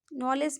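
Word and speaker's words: knowledge: ठीक है, नॉलेज में भी आप डी को साइलेंट कर दीजिए, डी साइलेंट हुआ, NOKNOWLEGE, नॉलेज हो गया, आप डी हटा दिए। ठीक है, तो इसका सही प्रोनाउंसिएशन नॉलेज हो गया।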